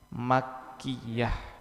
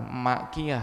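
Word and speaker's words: مكية: sebelum Nabi hijrah maka disebut surat makkiah bukan Makiah ya kalau Makiah tukang uduk ini makkiah bacanya harus benar makkiah bukan makkiah bukan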